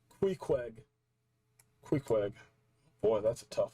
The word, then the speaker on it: Queequeg: Okay, someone in the Discord told me it's pronounced Queequeg.